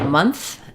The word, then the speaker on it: month: these words um so when we have month month we do say the n and the F sounds letter O says uh stressed schah and we can't leave any sounds out in month or we won't recognize the word but when we add